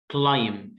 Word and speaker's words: climb: كلايم climb، البي هنا سايلنت. ليه؟ علشان عندنا بيقول لي when the letter B comes after the letter M at the end of the word we don't pronounce the letter B. لما حرف البي يجي ورا الام في نهاية الكلمة ما ننطقش حرف البي، فبقول climb climb.